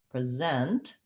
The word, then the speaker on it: present: similarly i'm going to present again my schwa present in this case it becomes a z rather than s present that's a z2 uh present longer on the second syllable